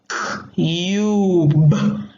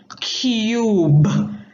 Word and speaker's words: cube: Now that U is going to turn into a long U. And long U says U or oo. And the E is silent.